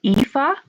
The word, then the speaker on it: Aoife: We pronounce it Aoife.